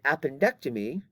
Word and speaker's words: appendectomy: I Illustrated earlier and notice the difference in pronunciation on the top word is appendicitis but it's appendectomy so the accent changes slightly between those two different words and so they